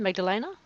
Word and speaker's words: Magdalene: Is that how you pronounce the next second name, Magdalena? Or do you say Or Magdalene? Magdalene. Magdalene. Magdalene. Mhm. It just kind of rolls off the tongue.